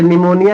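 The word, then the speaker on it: pneumonia: जैसे निमोनिया लिखते हैं ना निमोनिया तो निमोनिया स्पेलिंग पी एन से स्टार्ट होता है। वहां पी क्या होता है? साइलेंट हो जाता है।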